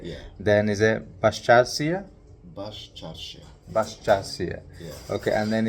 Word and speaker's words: Baščaršija: Baščaršija.